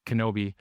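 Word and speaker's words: Knobbe: Uh, it's spelled NA, but it's actually pronounced Kenobi.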